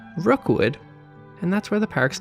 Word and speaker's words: Rockwood: One of these modest plots of land was named Rookwood, which is spelled like Rockwood, but St. Johners won't be very impressed if you don't pronounce it as Rookwood, and that's where the park's name came from.